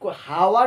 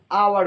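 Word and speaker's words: hour: আমরা কি হাওয়ার উচ্চারণ করব নাকি আওয়ার উচ্চারণ করব? এটা নিশ্চয়ই হাওয়ার উচ্চারণ করব না, এটা হচ্ছে আওয়ার, আ।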